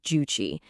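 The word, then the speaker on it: Juche: It's called juuche. That's pronounced guuchi.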